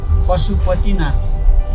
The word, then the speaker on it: Pashupatinath: to observe some of the worshippers at this Pashupatinath Temple. I haven't pronounced that correctly at all, but let's go find a taxi. Say the name of the temple. Yeah. The temple. What's the name? Pashupatinath. Pashupatinath.